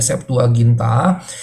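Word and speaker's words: Septuaginta: dengan angka latin yaitu lxx tapi dibacanya saptualginta maka dalam saptualginta eklesia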